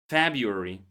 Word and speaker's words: February: So besides the common pronunciation of the word February, February, the first R is silent here.